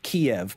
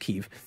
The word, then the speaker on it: Kyiv: I love chicken Kyiv, or Kiev, but it's pronounced Kyiv.